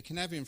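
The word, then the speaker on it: Cynefin: Knevian framework looks like this. Yeah. It's spelt like that, C-Y-N-E-F-I-N. Welsh is phonetic, right?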